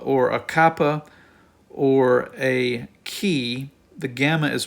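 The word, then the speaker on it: chi: is the letter Fe then we have the key and the key look notice it looks like our letter X but it makes the German CH sound as an A or um The lus Monster uh you hear that CH sound so that's the letter key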